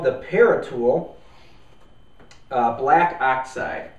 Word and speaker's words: Paratool: this is called the parol uh black oxide are you sure it's not pronounced par no I'm pretty sure it's par tulle but uh you know